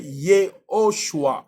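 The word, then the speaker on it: יְהוֹשֻׁעַ: Yeshua, c'est une déformation, c'est une mauvaise prononciation. Lui s'appelle pas Yeshua. Yeshua signifie il est le sali de Yahweh. Lui s'appelle Yehoshua.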